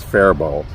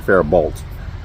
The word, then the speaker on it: Faribault: Actually, just recently I realized it's Faribault, and I was saying Faribault. I was pronouncing it wrong.